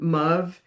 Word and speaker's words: Muve: Um they were known by the children as Farve and Muve. It's, you know, a upper crust pronunciation of father and mother, Farv and Muv.